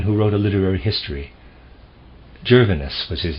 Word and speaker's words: Gervinus: was a man who wrote a literary history gervinus was his name i'm going to spell it that way g e r v as